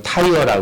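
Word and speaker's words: Tyre: 영어식 이름이 좀 특이한데 영어로는 타이어라 그래요. 여러분들 자동차 타이어 아시죠? 똑같아. 발음이 타이어라고 부르는 도시가이 두로예요.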